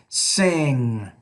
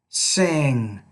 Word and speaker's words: sing: man hmm now um notice in this sound I'm not really pronouncing the G but it's sing sing I am singing in